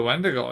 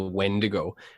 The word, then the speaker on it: wendigo: this now rhymes with it rhymes with splendo oh the wendigo yeah yeah similar like